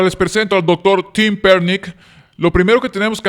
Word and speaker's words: Perenich: Con 3 sílabas, ¿es correcto? Pernick, sí, 2. 2 sílabas, sí.